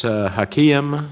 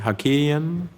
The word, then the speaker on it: Hakakian: and liberty and so miss Hakim is that is that the right pronunciation hakakian hakakian Miss ilham and Miss